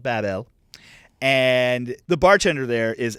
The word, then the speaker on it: Babel: Babel and wait wait it's not rains over Babel it's spelled Babel okay like the tower not babbling okay Babel rains over Babel and